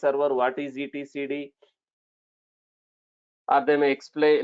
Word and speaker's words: etcd: form for that okay it is pronounced as e t c d so it's a database